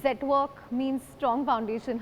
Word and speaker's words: Zetwerk: To signify quality, and Zetwerk actually means strong foundations in Dutch. It also rhymes with network, so it was a great combination of all factors.